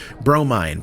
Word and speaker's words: Bromine: Steam Vision, conductor of the interdimensional time-spanning hype train, Dave Harold, Wisecube, Bromine, pronounced Bro, Mine, Main Humdinger, Mother of Pearl, Fiona